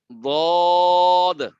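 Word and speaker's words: ض: এই হরফটা পড়ার সময় অনেকে কিন্তু দাল পড়ে ফেলেন। বদ পড়ার সময় অনেকে দাল পড়ে ফেলেন। দালের মাখরাজ হলো জিহ্বার আগা, আর বদের মাখরাজ হলো জিহ্বার হাফা।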